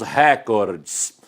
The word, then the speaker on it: recorde: que bateu o recorde quando ele diz dessa maneira ele está pronunciado esta palavra aqui ó acabei de tirar duas letrinhas esta palavra pertence a língua inglesa esta palavra deve ser pronunciada com a antena penúltima sílaba mais forte porém quando transplantamos uma